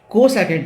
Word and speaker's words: cosec: तो यहाँ पे हमको समझना पड़ेगा कि जो हमारा कोसेकेंड है उसके नाम में हमें इसको थोड़ा आगे तक पुश करना पड़ेगा। तो इसको हम लोग प्रोनाउंस करेंगे कोसेक।